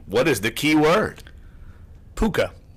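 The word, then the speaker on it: Pooka: Puka. Puka, as in Rhymes puka? with hookah. Rhymes with hookah. Yes, it does.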